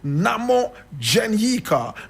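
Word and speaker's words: Nhamodzenyika: a son and the son was called I'll spell that n h a m o d z e n y i k a Namo Janika Namo Janika who was born in 1963 three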